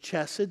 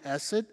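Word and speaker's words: חסד: Now the Hebrew word for mercy is chesed. Some people pronounce it hesed.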